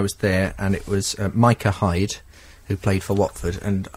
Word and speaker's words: Micah Hyde: oh by the way the number whatever for Watford is pronounced Micah Hyde and I said oh